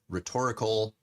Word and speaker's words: rhetoric: forms are called, but like the shorter form is pronounced rhetoric. It's like quick. And then the longer form is rhetorical.